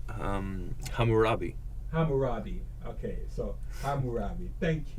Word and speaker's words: Hammurabi: And when they established these rules of Hammurabi, say, Clyde, pronounce it. Hammurabi.